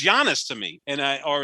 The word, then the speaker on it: Giannis: his last name it's giannis to me and i or as my good friend john serenitis told me the correct pronunciation in greek is yanis so that's what i